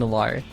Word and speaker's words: Illari: I like to see an Illari, I think that is the proper pronunciation. Illari. As they released a pronunciation like a couple days after she released. So yeah, because I think the first word was eel, and I was like, that doesn't seem right, but I'm gonna go with it.